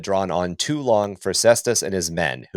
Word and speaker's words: Cestus: And so the ultramarines captain Lissa Lissamakus Siestas Cistas Cestus not Cestus not Siesta no Siesta